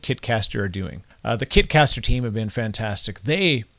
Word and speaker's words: Kitcaster: do i get all these amazing guests it rhymes with kitkaster okay maybe it doesn't rhyme it is kitkaster the success of this podcast is primarily because